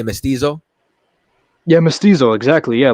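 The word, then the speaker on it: mestizo: You're going to say Mystiso.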